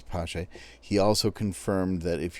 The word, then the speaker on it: Paasche: He confirmed that you do pronounce the E, so it is Paasche.